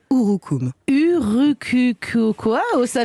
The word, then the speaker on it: urucum: lourd hookoom du coup alors ça s'écrit sur youtube mais se prononce ou roux coups sûrs qu cocoa haut